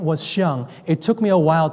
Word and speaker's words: Xiang: It's spelled X-I-A-N-G. He's from China. I had a hard time, but I got it. So it's Xiang.